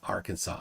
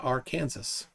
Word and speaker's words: Arkansas: Dora and cude Arkansas isn't it Arkansas it's pronounced Arkansas I don't know why I don't know why it's pronounced Arkansas that makes doesn't make sense but it is it's not pronounced R Kansas so there's that well um Arkansas has mountains